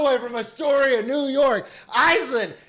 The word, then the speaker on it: Aislinn: Like Aislinn is just Gaelic Aislinn.